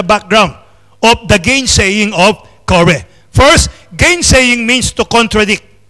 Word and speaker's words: Korah: Or in the Old Testament, it's pronounced as Korah.